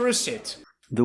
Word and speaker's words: receipt: your change and your receip the word is not pronounced receip receip we pronounce it receipt receipt the second syllable is stressed and it makes the long e sound like green beans receip receipt not Reit